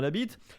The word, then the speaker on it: Labit: n'y aura pas de sponsor indiqué l'entraîneur christian labit tu as moins qu'on prononce pas le tgv ça s'écrit vraiment comme